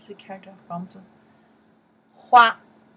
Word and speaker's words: 花: Hua. Pronounce.